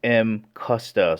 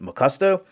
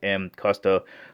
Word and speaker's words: Mcusta: all right before beginning the actual correct pronunciation is m kusta so there's a lot of people out there pronouncing it mccusto which is fine too